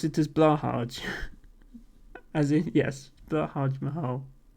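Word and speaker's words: Blåhaj: you pronounce it as Blahaj. As in, yes, Blahaj Mahal. I've tried to start pronouncing what I think is the correct Swedish pronunciation, which is blowhigh, but I could be completely wrong on that.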